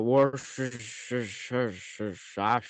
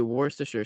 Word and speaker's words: Worcestershire: Now most people go Worcestershire sauce. Um, it's really Worcestershire sauce.